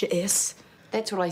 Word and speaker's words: J'ess: not clever jess detention it's pronounced your s that's what i said